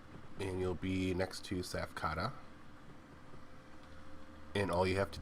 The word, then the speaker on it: Tsaph: It's Tsaph Day Off. I believe the T is silent.